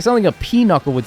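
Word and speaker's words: pinochle: It's not peuckle, dude. Like two words. It's peuckle. It's like p I don't know how you spell it. It's like P I N U C L E.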